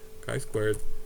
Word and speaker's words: chi squared: kind of written as t squared but it's pronounced the sky squared right g squared chi squared value for my specific sample right remember the